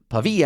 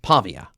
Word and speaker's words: Pavia: Note the stress is on the second syllable and it's pavey, not Pavia.